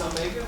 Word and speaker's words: omega: If you read it, you should read it as omega, if you're pronouncing it in English.